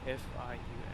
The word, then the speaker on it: Fiume: F-I-U-M-E. How do I fucking pronounce it in Italian? Fiume. Thank you, Google.